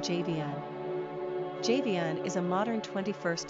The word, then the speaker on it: Javion: Quick Facts ON JAVION GENDER: Boy ORIGIN: African-American NUMBER OF SYLLABLES: 3 RANKING POPULARITY: 817 PRONUNCIATION: JAY-vee-un SIMPLE MEANING: Greek Characteristics